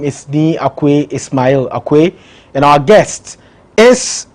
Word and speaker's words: Ismail: Thank you very much, Ismail. You corrected me this morning. I was saying Ishmael. I think the Muslims, that's how we pronounce it.